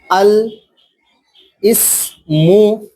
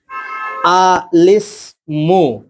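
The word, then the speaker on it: الاسم: আল ইসমু যদি বলি তাহলে উচ্চারণটা আমাদের ভুল হয়ে যাবে।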